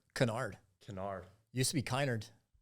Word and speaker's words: Kinard: last name pronounced kard Canard Canard used to be kard but my uh